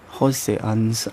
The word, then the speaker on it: H.C. Andersen: And because our alphabet is pronounced different, we say H.C. Andersen. Jose Andersen.